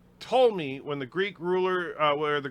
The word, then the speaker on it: Ptolemy: The P is silent, as in the Ptolemy, when the Greek where the Greek rulers of Egypt after Alexander the Great's empire and before Rome took over.